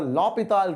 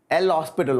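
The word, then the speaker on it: L'Hôpital: is called as your lopital rule and we can call it l hospital also okay whatever you're comfortable with the actual pronunciation i think is uh lopital but you can call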